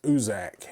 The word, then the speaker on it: Ucczajk: Now, I had to ask them how to pronounce the name for this guy, and it's told me it is Usuzak.